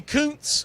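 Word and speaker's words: Kuntz: So, Rusty Counz as it's pronounced.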